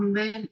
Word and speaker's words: bel: oui c'est ça un bel éléphant mais bel il faut préciser d'accord masculin singulier ou féminin singulier pourquoi parce que les deux on va prononcer belle belle qui pronon b b